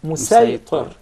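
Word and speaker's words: مصيطر: with a specific dialect, the Sad will be deliberately pronounced as Sin. For example, when we say Musaytir, we'll recite it as Musaytir.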